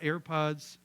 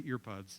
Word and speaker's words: AirPods: and whether we've got air pods airpods I said it right right I always say earpods and I know that's not right they're airpods um I was waiting for